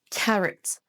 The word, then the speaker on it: carrot: Si vous le prononcez carotte avec un o à la française, et bien vous ne prononcez pas de bon son. Ce son ha O ici, c'est un son choix et ça se prononce carrot.